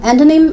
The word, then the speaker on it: antonym: Synonym, antonym, and hyponym, different. Okay, the stress is first, okay.